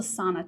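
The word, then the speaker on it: Sanne: It's called a sauna tulip. It's spelled sa n e.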